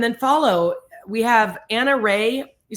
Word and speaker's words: Rahe: And that's why it's hard for me to always give Anna Ray because it doesn't sound like it's spelled. It's a n a rahee r a h e pronounced ray of GST is our Instagram and GST body.